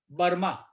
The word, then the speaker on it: बर्मा: अब उनको ब्रह्मा प्रोनाउंस करना नहीं आता था, सो they used to pronounce as बर्मा।